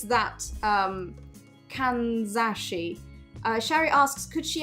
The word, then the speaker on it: kanzashi: shari says kaza uh kanzashi yes that's the one kanzashi sorry i pronounced it in in my russian voice kazanahi um which i i